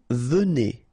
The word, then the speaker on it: venez: Vous venez, okay? So Z at the end combine will give you the sound E, and here you've got venez, vous venez, all right?